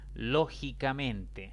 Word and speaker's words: lógicamente: Lógicamente. Lógicamente es una palabra de 5 sílabas.